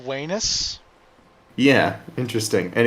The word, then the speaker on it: Venus: so yeah and also V makes the W sound in Latin did you know this